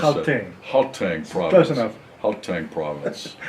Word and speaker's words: Gauteng: How do I pronounce that? Gauteng province.